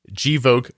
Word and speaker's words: Gvoke: huge thank you to one of today's sponsors joke glucagon find out more about joke hypopen at jok glucagon docomo you spell that g v o k e g l